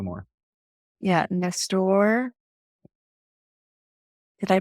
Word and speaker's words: Nestor: Yeah, Nestor. Did I pronounce your name correctly?